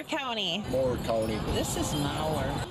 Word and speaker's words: Mower: This is Mower. It's spelled like my lawnmower, so I'm going with mower.